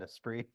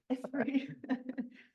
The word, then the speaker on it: Esprit: Everyone mispronounced it when I was there, but yeah, we just called it a spree. Esprit.